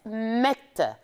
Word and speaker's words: mettent: Je mets, tu mets, il met, elle met, nous mettons, vous mettez, il avec S, elle avec S, mettent. Mais on ne prononce pas le ENT.